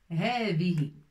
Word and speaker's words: هذه: هذه. Ça c'est comme تاء مربوطة ولكن بدون نقط. Ça se prononce هاء. C'est هاء الأخير.